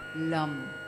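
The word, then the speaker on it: Lam: or the beach sound the seed sound is Lum l a m but pronounced as l u m so take a deep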